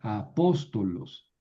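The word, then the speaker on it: ἀπόστολος: Y aquí tenemos una proparoxítona apóstolos. Eh, aquí está la penúltima sílaba apóstolos.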